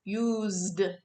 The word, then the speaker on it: used: like so use becomes use becomes used still one syllable use used rob becomes